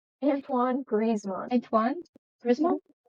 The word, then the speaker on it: Antoine Griezmann: me tell me how to say the name Antoine grizzman Antoine Griz all right and now we're to